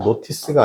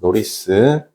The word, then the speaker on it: notice: 발음은 notice가 아니고 notice입니다. notice.